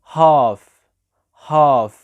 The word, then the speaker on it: half: دي كلمات تانية ممكن نشوف الصوت ده مع ال والال هنا بتبقى سايلنت، يعني ما بتتنطقش، زي كلمة كاف، كلمة half.